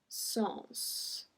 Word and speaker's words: sens: So here we pronounce the S as well. Numéro 16, un sens. Un sens.